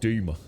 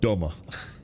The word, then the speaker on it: Dummer: You live live near Dummer and they pronounce it doomer. Uh when I call it dumber, I'd call I'd say dumber for that as well.